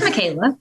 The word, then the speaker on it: Michaela: It's Michaela.